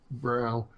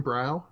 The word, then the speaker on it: Brough: is I view it brow that's how you pronounce your name brow it's bro but yeah you better because a lot of people go brug the ugh is silent yeah well the way